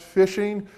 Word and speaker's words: phishing: your bank account information fishing that word pronounced fishing it is an attempt